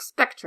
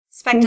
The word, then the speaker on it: Spectre: Well, I can't pronounce Silk Spectre, apparently. That's hard. Spectre like a ghost.